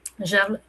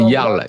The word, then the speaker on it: Jarl: je t'ai vu sur c'est Jarles Spunk. J'espère que je le prononce bien. C'est Yarl. Yarl du coup.